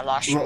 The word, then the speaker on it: Lar Cheveux: And I am interested in trying, because when Nyx met, how did you pronounce his name? Lar Cheveux? Is that right? Yeah, Lar Cheveux.